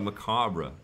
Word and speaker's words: macabre: It's kind of macabre in a way, isn't it? Is that a word? There, first word, first time I've used that word. The R is silent.